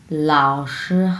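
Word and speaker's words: 老师: আর এতটুকু আমরা উচ্চারণ করব শি, শি, এই যে ফ্ল্যাটভাবে শি, এই যে এই টোনের কারণে, ফার্স্ট টোনের কারণে শি এইভাবে উচ্চারণ করব।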